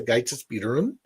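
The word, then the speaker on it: Ágætis byrjun: I believe it's pronounced Gaitis Bírun.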